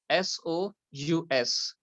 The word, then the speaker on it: sous: SOUS. Sous means under. The duck is under the table. Okay. So SOUS, how we will pronounce it? Sous. Like in English, we use word sue karna.